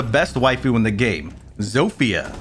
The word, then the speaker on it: Zofia: waifu in the game zofia or chofa as i like to pronounce incorrectly sophia is great with their